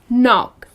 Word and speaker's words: knock: with a k but when you pronounce it then it's just knock the K is silent another one nice oh